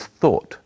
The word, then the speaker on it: thought: tense of think is thought it's spelled in a strange way but it's easy to say thought try saying we thought